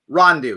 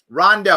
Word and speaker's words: Rondeau: The woman herself, Olivia Rondeau. Did I say it right? Rondeau.